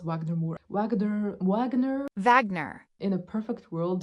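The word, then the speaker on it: Wagner Moura: I believe Wagner, I think his name is pronounced Wagner Moore.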